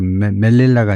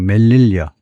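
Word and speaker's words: Melilla: 마이그루션의 세우타 세우타에서의이 이주 세우타에서의 이주 and메라 아 이게 발음은 이제 보니까 멜릴라가 아니고 멜릴리어 뒤에 나옵니다만은 제가 아이 두 군데에 멀릴리아는 우선 대충 여기서 보면요 여기도 모로코에 있는 여기도 마찬가지로 스페인형입니다.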